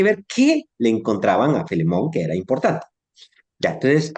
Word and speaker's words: Filemón: Felemón. Filemón. Sí, Filemón. Porque Filemón se escribe Filemón.